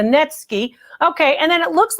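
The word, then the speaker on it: netsuke: like ivory to me a net ski that's what those two holes are for it's spelled natsuki but it's a netsky okay and then it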